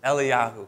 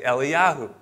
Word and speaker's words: Elijah: el-jah all right but it's actually pronounced eliahu because they don't pronounce the j so elijah is not elijah it's actually eli yahoo el yahoo and then